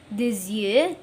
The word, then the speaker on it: des yeux: Paris c'est la brisée des yeux. إذا لاحظتم أيضا حشرت الأس هنا بين متحركين أو و Y، ولذلك أصبح نطقها زد.